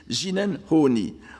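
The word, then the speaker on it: 自然法爾: ce de ce terme que je prononce la japonaise parce qu'il est plus facile de le prononcer ainsi ginel honni ou l'essence du premier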